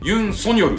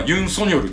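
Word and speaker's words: 尹錫悦: 役艦これねいろんな読み方買ってユンそういう読み方もあるしユンソンヨルっていうもあるし本人はユンソによるって言ってるらしいんですよで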